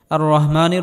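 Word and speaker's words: الرحيم: রহ আর রহমানির রাহিম এখানেও বড়হা আর রহমানির রহিম বলা যাবে না আর রহমানির রহিম বললে নামাজ হবে না আর রহমানির রাহিম আর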